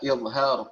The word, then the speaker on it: إظهار: Kembali kita sama-sama mengingat bahwa pengucapannya adalah izhar pakai dha bukan pakai zai, melainkan dha izharu ya, bukan izhar ya, pakai dha bukan pakai zai.